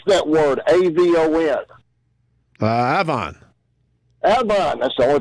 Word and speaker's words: Avon: I'm like, how the hell does A-V-O-N spell Avon? I'm like, I don't have average. Now I look more stupid than I am. I know it's Avon, but up there they pronounce it Avon.